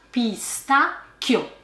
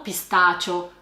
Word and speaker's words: pistacchio: Attenzione alla pronuncia pistacchio, non pistaccio, pistaccio.